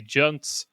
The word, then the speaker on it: Junts: And then we have the only other two worth kind of really mentioning is ERC with 7 and the Junts, as I now know they're pronounced, also with 7.